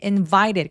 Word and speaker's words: invited: invited 강세 두 번째에 오고요. invited 할 때 t가 뭔가 굴러가는 소리가 나죠.